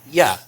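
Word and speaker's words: ja: of a word and usually when you find an a on the end of a word it becomes a long a and a long a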